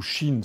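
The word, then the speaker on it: 神: Et les camis, c'est ce qu'on appelle donc ça ça prononce kami ou Chine selon la prononciation. Il y a deux parfois pour un certain nombre de caractères chinois, il y a deux prononciations japonais.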